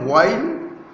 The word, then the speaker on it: while: While shepherds watched, इसका दो pronunciation है, while और while, एच साइलेंट हो जाता है।